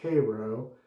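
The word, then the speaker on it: Каро: My cream has been this, well, it says Kapo, but it's Cyrillic, so it's pronounced Cairo, the classic version of their shaving cream.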